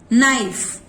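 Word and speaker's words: knife: नी, नाइफ, नॉट, के होते हुए भी के का साउंड क साइलेंट है।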